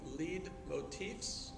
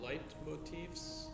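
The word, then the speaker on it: leitmotif: By the way, Wagner is famous for inventing lead motifs, or light motifs, however you want to pronounce it. L-E-I-T M-O-T-I-F, or V.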